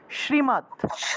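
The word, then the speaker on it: শ্রীমদ্: দয় নিচে অসন্ত আছে এটাকে কিভাবে উচ্চারণ করব উচ্চারণ করব মত শ্রীমত শ্রীমত ঠিক আছে শ্রীমত তারপরে ভগবত ভগ আর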